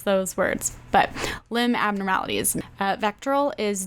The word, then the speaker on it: VACTERL: It's pronounced VACTERL. VACTERL.